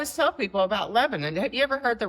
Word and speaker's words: Lebanon: It's Lebanon, by the way.